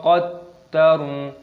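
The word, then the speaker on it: قَدَّرَ: Qaddar, dalnya ini tasdid maka dimasukkan, diidghamkan, ditekan. qaddar. Roknya dimatikan ataupun disukun. Faqutila kaifa qaddaru.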